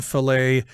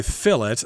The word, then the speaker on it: fillet: that is flat but in america i guess we use the french pronunciation filet fish fillet yes and